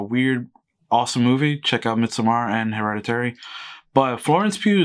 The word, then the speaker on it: Midsommar: And I don't know how you say Midsommar. It's spelled with an O or Midsummer, but they say Midsummer in the movie. So I'm just going to say Midsummer.